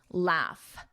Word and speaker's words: laugh: Laugh, with that F, laugh, laugh.